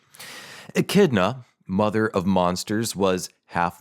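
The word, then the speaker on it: Echidna: had the same mother Akida I hope I'm pronouncing that right like Knuckles the Akida I think that's how you pronounce it e c hna achidna a kidna I like AK kidna mother of monsters was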